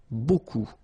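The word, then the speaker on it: beaucoup: strange B like that remember you don't pronounce the final P okay and then you've get this combination of vowels a u and you get the sound o so technically it's B okay so it's not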